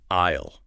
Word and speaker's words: aisle: The S in that word is completely silent. It's a ghost letter. You pronounce the word like IIL. Like the first part of the phrase I will. Isle.